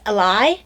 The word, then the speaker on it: ally: is very interesting um he's a really weird way of pronouncing the word ally he says a lie yeah i've heard that